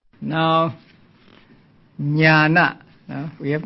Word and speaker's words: Ñāṇa: Now, as I explained a few days ago, the dot beneath the letters mean that they are to be pronounced with the front of the tongue touching against the heart palate. They are called cerebrals. So Ñāṇa, the word Ñāṇa means knowing or knowledge.